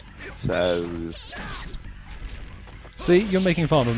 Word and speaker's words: Seoul: With a bit of an E sound before it, so it's Seoul. Seoul.